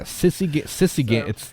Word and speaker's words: Sisygambis: Yeah, Sisygambis. It's literally exactly how it's spelled. Sisygambis. It's like the X-Men Gambit being a sissy, but with an S on the end instead of a T.